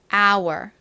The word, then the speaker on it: hour: 잘 봐 주셔야 됩니다 h 들어가지만 소리가 나지 않는다라는 점 자 그리고 our 소리 나는 유를 뒤에 써 주시면 됩니다 발음해 볼게요 시간 our our 좋습니다 같이 써 볼게요 h